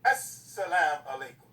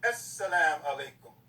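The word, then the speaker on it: السلام عليكم: S is a sun letter. That's why they say As-salam alaikum. You see the S is twice. As-salam alaikum.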